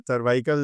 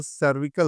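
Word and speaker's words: cervical: सर्वाइकल जब कहते हैं तो लोग गर्दन पेन समझ लेते हैं, जबकि यहाँ पे अगर हम थोड़ा सा प्रोनाउंशिएट करें तो सर्विकल होता है।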